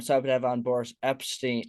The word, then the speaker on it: Epshteyn: beer show I'm Sor to have on Boris Epstein Epstein did I say it right they said it